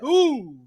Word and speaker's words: Hoove: No. You said it wrong. You said it wrong. It's your boy, Hoove. That's how you got to say it, Tony.